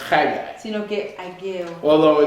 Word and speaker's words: Haggai: It's not pronounced John Hagee. No se pronuncia Juan Hagee, It's pronounced Haggai.